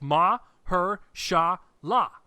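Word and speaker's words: Mahershala: actually say it properly it's not that hard guys just look it's ma her sha la that's that that's his name be my herschel ah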